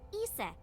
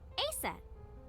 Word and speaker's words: Isis: not mom is named isis but in ancient egyptian it's pronounced closer to isa or asa hmm how do i